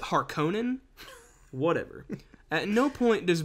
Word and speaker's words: Harkonnen: in this film do baron harkin well which they pronounce it harkonnen whatever at no point